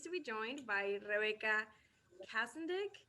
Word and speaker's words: Kastendick: Um, yeah, today we are pleased to be joined by Rebecca Kastendick. Am I pronouncing it correctly? Kastendick, but it's Kastendick, fine.